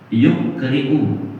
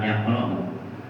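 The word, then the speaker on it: يقرئ: Innallaha azza wa jalla yukri'u, bukan yaqra'u.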